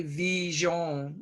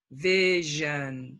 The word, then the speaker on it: vision: save save vision vision don't say V John it's not E oh it's a vision vision and give you a